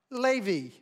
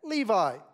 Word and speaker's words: Levi: would hear that pronounced Levy l-e-h lay in v v e e like our friend Jacob and Renata's son pronounces his name Levy in America we would typically say that Levi and then there's the